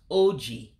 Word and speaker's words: oji: Then that last word means, or is pronounced oji.